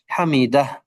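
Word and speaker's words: حَمِدَهْ: ওকে, আচ্ছা, কিন্তু আমরা এখানে থেমে যাই, এই জন্য পড়ি হামিদা। এবং এটা আমরা হা আছে এমনটা স্পষ্ট উচ্চারণ হওয়াটা দরকার, হামিদা।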